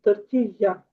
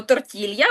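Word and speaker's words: tortilla: Тортія. Тортія. Так, ми кажемо тортілья, бо нам так зручніше українцям, але насправді в оригіналі це звучить як тортія.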